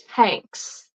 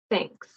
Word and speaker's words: thanks: or thank you um it's not the it's with this thanks and it's not with the S it's not SS which you might hear with I'm Slavic Learners it's between your teeth no vibration remember no